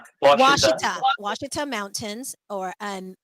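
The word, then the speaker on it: Ouachita: Because you guys are It's Washita.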